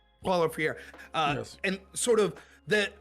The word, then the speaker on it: Paulo Freire: And I can never pronounce his name right. Pablo Freire, is that his name? Paulo Freire. Paulo Freire.